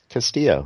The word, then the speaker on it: Castillo: I realized I say this guy's name incorrectly Castillo that's right okay why there was somebody else